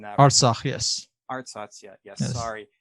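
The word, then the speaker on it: Artsakh: I might be Ars, pronouncing that. Arsach, yes.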